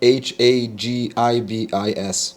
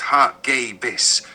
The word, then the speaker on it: Hagibis: you pronounce the name h a g i b i s the name hagibis is pronounced hais with the emphasis on the second syllable and a hard G sound like in go hbus it is hbus comes